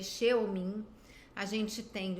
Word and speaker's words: Xeomin: A gente tem o Xeomin, que na verdade se escreve Xeomin.